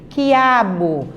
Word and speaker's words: quiabo: Aquilo, você só pronuncia o som do quê? Quiabo.